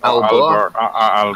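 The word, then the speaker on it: Aalborg: It's Alba. Yeah. Yeah, no G in it. It's silent.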